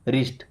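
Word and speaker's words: wrist: एक वर्ड देखिए डब्ल्यू आर आई एस टी रिस्ट क्या पढ़ते हैं रिस्ट इसका मतलब होता है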